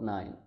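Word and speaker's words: nein: उल्ट कर दें हम, ए और ई का कम्बिनेशन, तो इन दोनों को मिला के हम पढ़ते हैं आई, आई। अब फर्स्ट देखते हैं हम। अब ये है डाई, ये डी नहीं है, डाई। फिर सेकंड लाई, पाई, याई, आइंस, माइन, डाइन और नाइन।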